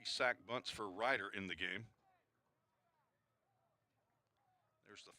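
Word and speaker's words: Reiter: R-E-I-T-E-R, pronounced Ryder.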